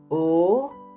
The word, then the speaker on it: ओ: in your picture book to pronounce o correctly pronounce it as you pronounce o in English word over oh o over o over